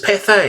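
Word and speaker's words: Pathé: uh yes this um looks different indeed British papay it is papay it's saying it pronounced today British Cafe now I I remember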